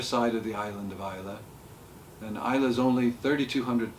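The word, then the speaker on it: Islay: um and the name of the island is ISA Isa yeah not isay I know I did my research yeah it's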